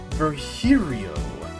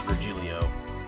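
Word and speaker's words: Virgilio: It's pronounced Verhiio. No, I'm pretty sure it's Vgilio.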